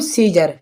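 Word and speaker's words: Caesar: ठीक है, यहाँ पे लिखा हुआ है सीजर, तो आप इस सीजर में देखें ई से बाद में आया है ए, तो यहाँ पर ए क्या है, ए साइलेंट है। ठीक है, तो इसके लिए बोलेंगे हम सीजर।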